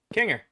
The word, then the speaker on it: Kinger: Kanger, that's how you say my name.